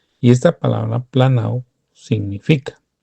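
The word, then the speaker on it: πλανάω: Se la doy para que usted vaya y busque con las herramientas que están disponibles la palabra G4105 que se pronuncia más o menos planao, hermano.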